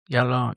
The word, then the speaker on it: Diallo: But the other guy, the Canadian, how do you pronounce his name? Diallo? Diallo, yeah.